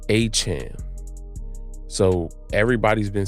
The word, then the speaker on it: Etienne: his brother said that their last name is pronounced H M. So, everybody's been saying Etienne all this time, but it's properly pronounced H M.